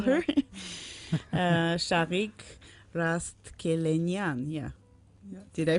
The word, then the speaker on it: Shaghik Rastkelenian: Shaghik Rastkelenian. Yeah. Did I pronounce it right?